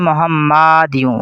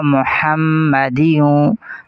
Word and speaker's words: محمد: مبارک ہے تو اسے عموماً لوگ پڑھتے ہیں محمدیوں، اس میم کو بالکل نہیں کھینچیں گے، درست تلفظ ہوگا محمدیوں، ہا کو حلق سے ادا کریں گے محمدیوں۔ آگے ہے وعلی آلی،